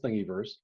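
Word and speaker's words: Thingiverse: thingyverse and yes that's the way it's actually pronounced as thingyverse shapeways is a service they own the printers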